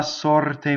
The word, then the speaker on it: sorte: Alright, so you would say Piangerò la sorte mia. Just a slight double L, right? Sorte, open O, rolled R, closed E.